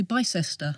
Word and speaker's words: Bicester: And then you say, Bicester.